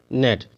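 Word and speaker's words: gnat: बोलेंगे फैन इसको बोलेंगे नेट ठीक है यानी जी के पहले अगर सॉरी एन के पहले अगर जी आ रहा है तो उसका उच्चारण जी का उच्चारण नहीं होगा तो डिजाइन मतलब क्या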